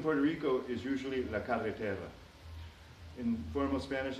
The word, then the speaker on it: carretera: first struggling with Spanish I often mispronounced this word and accidentally said cartera instead of carreter which means wallet or purse here in Puerto Rico